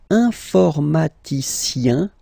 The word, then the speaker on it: informaticien: And the last group is I-E-N, informaticien, yin, yin, yin. So that's the way to pronounce this I-E-N, yin, yin.